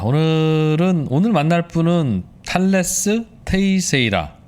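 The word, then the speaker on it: Teixeira: 자, 오늘 만날 분은 탈레스 테이세이라. 예, 발음이 좀 힘들죠. 테이셰이라. 탈레스 테이셰이라. 예.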